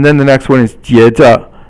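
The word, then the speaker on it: 接着: And then the next one is 接着, 接着, 接着. 接 is first tone, and then 着 is silent, the 轻声, and it basically means to catch.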